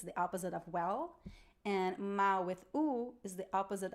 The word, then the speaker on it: mal: you about brazilian portuguese we don't pronounce the l at the end of syllables so at the end